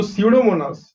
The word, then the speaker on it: Pseudomonas: So pseudomonas. I hope you'll remember the pronunciation. This we had seen in our animal classification, I think, chapter animal classification. Pseudomonas, यहाँ पे P silent है, okay?